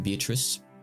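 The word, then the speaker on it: Beatrice: ooh I know she's beatric B so uh it's supposed to be pronounced bee which is the Italian pronunciation but uh for Simplicity sake I'm going to be saying beatric unless someone is shouting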